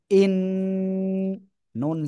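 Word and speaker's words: إِنَّا: তাহলে উচ্চারণ করবেন কেমন হামজা নুন জের ইন নুন জবর না ইন্না সবাই একসাথে জোরে জোরে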